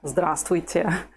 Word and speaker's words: здравствуйте: Let's try to say this, здравствуйте. We're going to start from the ending. I'll say the syllables, growing one syllable at a time, and you repeat.